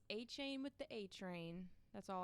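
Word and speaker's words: Achane: I'm pretty sure when I first saw him in college, I was calling him like a Shane or something. I don't know. All I can say is he's A-Chain with the A-Train.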